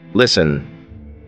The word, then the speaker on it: listen: Listen. Here T is silent.